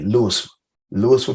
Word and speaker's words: Louisville: bit better me I'm from Louisville Mississippi it's pronounced like Louisville but we say it like l-o-u-i-s-f-a Lewis Lewisville Mississippi so you hear that come out and